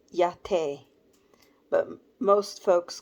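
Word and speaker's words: Majette: stuff Ma j e t t e is pronounced yate but most folks call her mom jet her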